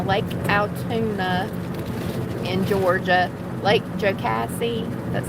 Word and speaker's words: Jocassee: martin in alabama lake altoona in georgia lake jocassee that's how you say it in south carolina